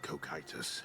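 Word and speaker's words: Cocytus: hit me no enough of that the River kitus Winds through endless Misty passageways The Wailing Souls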